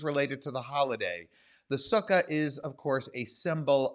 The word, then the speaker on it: sukkah: of year so that's our sukkah if you or sukha if you want to use the more hebrew the more modern hebrew pronunciation if you are in